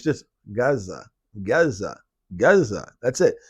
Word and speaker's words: Gaza: free fre free fre it's not how they say it it's just Gaza Gaza Gaza that's it